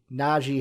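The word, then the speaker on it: Najee: i don't get it it's na g naji harris like that's it like it's simple and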